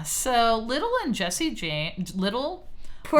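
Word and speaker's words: Lidle: So, he's hanging on with a gang and he is friends with this man by the name of Dick Little. It's spelled L I D L E.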